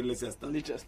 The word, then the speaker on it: Leicester: People will say Leicester, and they call it over Leicester. And they say, well, it's the way it's written for certain people. They want to pronounce the C and the I.